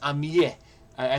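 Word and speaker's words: amie: Female French friend is am I I think it's pronounced amii but it has that there that that little extra e there to make it female intentionally.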